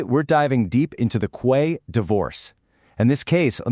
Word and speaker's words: Quaye: That's pronounced Quay.